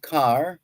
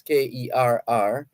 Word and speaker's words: Kerr: for joining us Robert Carr that's k-e-r-r some people pronounce their name Kerr k-e-r-r same spelling but different pronunciation they sometimes choose how